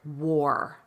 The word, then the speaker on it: war: in this little recording, when you see WAR, pronounce it war, pronounce it with an OR.